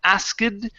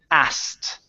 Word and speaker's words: asked: This is instead of ask the word is asked.